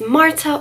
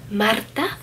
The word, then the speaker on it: Marta: If you're new here, my name is Marta, or you can say Marta if you can roll your R's all fancy, but either way is fine.